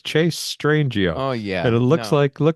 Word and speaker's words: Strangio: It's Chase Strangio.